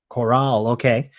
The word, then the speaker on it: Korhal: And I remember that before that, just before Madland had joined, Korhal or Korhal, I don't know how it's pronounced. How do you say it? Choral.